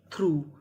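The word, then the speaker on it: through: THOUGH, यहाँ पे उच्चारण करना है दो। दो का मतलब होता है यद्यपि। THRUGH, थ्रू।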